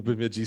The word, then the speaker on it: Bemidji: either know their mascot or even how to pronounce their name. Bemidji State came up, and I was like, oh, Bemidji.